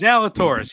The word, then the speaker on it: Zalatoris: Zalatoris? Zalatoris, yeah, just like the golfer.